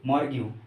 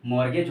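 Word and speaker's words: mortgage: मॉर्ग्यू। मॉर्ग्यू मतलब होता है मॉर्गेज। सॉरी, इसका प्रोनाउंसिएशन क्या होगा? मॉर्गेज होगा।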